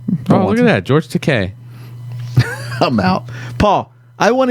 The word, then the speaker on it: Takei: Takai. Takei. Takai. He took a picture with It's Takei.